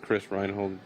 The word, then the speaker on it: Chris Reinhold: That's how you say my name in Spanish. It's just Chris Reinhold normally.